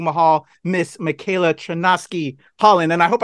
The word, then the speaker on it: Michaela: now she has reimagined Volume 2 Mahal Miss Michaela chanowsky Holland and I hope I didn't mispronounce your name right there Michaela now you're good you're good I love it